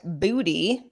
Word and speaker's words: Booty: is promoting minecraft head mat booty spelled like it sounds - head of Microsoft